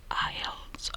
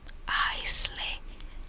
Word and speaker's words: aisle: Since when is the S a silent letter?